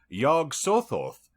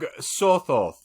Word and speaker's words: Yog-Sothoth: Yog-Sothoth knows the gate.